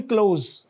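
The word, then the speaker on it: coup: या उसको, हाँ, इसको मिलिट्री कू भी कहते हैं, कू डेटा भी कहते हैं, लेकिन अब ज्यादा लफ्ज मिलिट्री कू आप देखेंगे वेस्टर्न मीडिया में भी मिलिट्री कू ज्यादा यूज होता है, तो यानी पी साइलेंट है कम से कम, ये जरूर जहन में रखें।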